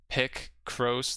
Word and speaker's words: Picross: It's pronounced Picross, like picture crossword.